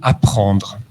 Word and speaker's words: apprendre: Ça donne, par exemple, le fait que vous avez vu le mot « apprendre ». Il y a 2 P qui ne se prononcent pas. Personne ne dit « je vais apprendre quelque chose ».